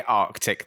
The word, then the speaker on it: Arctic: oh, we've spelled Arctic wrong, they didn't say Arctic. They never said Arctic. They said Arctic.